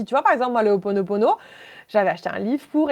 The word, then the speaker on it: Ho'oponopono: si tu connais le rituel alors on va prononcer Ho'oponopono.